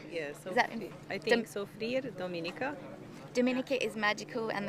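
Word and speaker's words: Soufrière: Dan lives in London, but his freediving family is probably the Blue Element guys in, how do you pronounce that? Soufriere? Yes, Is that I think Soufriere, Dominica.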